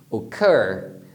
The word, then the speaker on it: occur: Occur, que é ocorrer, tá vendo? Eu falo mais forte o final, occur.